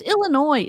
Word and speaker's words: Illinois: I I can't help it's Illinois the S is silent for once like I had s's on the back of everything but Illinois silent God she just said